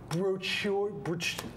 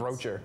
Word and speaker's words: brochure: Also, travel, I believe the word is brochure. Brochure. Yes. Yes. Those. I only know the word because somebody had to tell me the pronunciation for it. I always thought it was broocher.